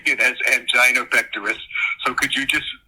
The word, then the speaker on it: angina: And the medical director on the set kept telling me it's angina. And I said, "Well, I've never heard it pronounced angina. I've always pronounced heard it pronounced angina." No, it's angina angina.